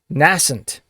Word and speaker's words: nascent: of the day word of the day is nascent also sometimes pronounced nascent nascent or nascent n-a-s-c-e-n it is a word